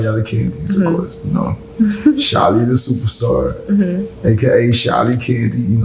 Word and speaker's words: Shily: My name on there is Shily Superstar. Just the way it sounds is the way it's spelled.